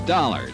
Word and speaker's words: Dollar: It's Dollar, Dollar. Dollar, huh? Yeah, it rhymes with color.